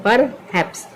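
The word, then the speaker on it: perhaps: इसको पढ़ते हैं पर हैप्स। तो कैसे पढ़ेंगे? देखिए पी से क्या हुआ? पी से हुआ प और ई यहाँ पर साइलेंट है, क्योंकि यह पी और आर ये व्यंजन वर्ण है और ई क्या है? ई वॉवेल है। तो यहाँ पे ई साइलेंट हो गया है।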